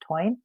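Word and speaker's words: Táin: There's a book called the it looks like the tain t i n, but it's pronounced twine.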